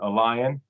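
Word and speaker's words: LAION: without their permission currently there's a database called Allon uh which is spelled l a i o n and this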